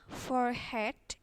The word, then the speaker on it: forehead: Pertama adalah forehead. Jadi E-nya ini nggak kebaca.